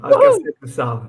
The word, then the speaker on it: Alcácer do Sal: this morning, Bruno, to Alcácer do Sal. I think I've pronounced it correctly now. You pronounced it correctly, yeah. Alcácer do Sal, yeah.